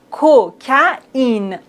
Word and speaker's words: cocaïne: On doit pas dire coca. Non. Cocaïne. Cocaïne.